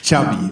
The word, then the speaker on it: Xavi: Pronunciation of your first and last name. Xavi Hernandez. Xavi.